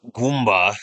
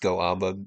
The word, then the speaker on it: Goomba: Shadow Ball's the like Goomba there. A lot of people think that's pronounced Goamba because of how it's spelled, but it's just a little face in the middle.